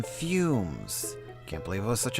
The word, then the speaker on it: Fume-shroom: It's not fume, it's fume, as in fumes.